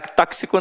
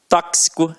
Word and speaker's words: tóxico: Tóxico não, ó, tóxico, é isso mesmo, né? Quase que sai um tóxico, olha que feio que ia ser.